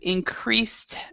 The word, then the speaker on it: increased: more release relaxed attitude increased productivity okay so both of these with relaxed has a t and increased your productivity has a t so this e is silent and it sounds like a t a more relaxed attitude